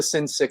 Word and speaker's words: Sinchik: can speak uh sincerely like the sin sick soul um so alan is